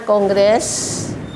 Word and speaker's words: kongres: De BAB 28 Konggres penulisan yang baku kongres tapi membacanya kongres Hai kemudian 9 sarasehan